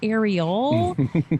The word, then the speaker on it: Arielle: It's actually Arielle. Like actually, except that then I have to put the emphasis on the last syllable in order.